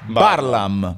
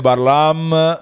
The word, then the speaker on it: Barlaam: primo colpo di scena la pronuncia esatta del cognome di Simo è parlam Parla in esclusiva Allora segnatevi quando il tg1 diranno e ha vinto la medaglia d'oro Simone barlamme e no no no